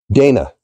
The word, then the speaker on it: Dana: name me uh I phonetically if I spell it it would be like d a y n a day na Dana and um that's where